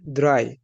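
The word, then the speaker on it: drei: তিন কে বলবো বা থ্রি কে বলবো হচ্ছে দ্রাই, থ্রি, দ্রাই। ওকে, এবার হচ্ছে ফোর। ফোর এর উচ্চারণ অনেকটা ইংলিশে যেমন আমরা ফোর উচ্চারণ করি, যা ডয়েসেও ঠিক মোটামুটি কাছাকাছি আর কি।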